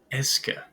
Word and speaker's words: est-ce que: So you can also place est-ce que. So practice pronouncing that with me. Est-ce que.